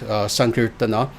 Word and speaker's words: sankirtana: sankirtana which is incorrect sankirtana is how you actually say this the a is is pronounced on the end sankirtana is a a very